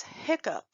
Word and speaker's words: hiccup: This word is hiccup. Hiccup is a word that has the k sound, but the k is spelled with the two C's.